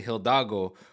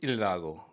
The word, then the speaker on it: Hidalgo: always want to say Hidalgo, but in Spanish the H is silent, so it's Hidalgo.